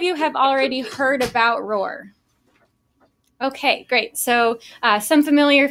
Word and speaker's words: ROR: research organization registry or R or you can say RoR but it's more fun to roar like a lion so so now you